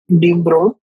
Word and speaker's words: de Broglie: In 1924, French physicist Louis Victor de Broglie pronounced de Broglie put forward the bold hypothesis that moving particles, no matter, should display wave-like properties under suitable conditions.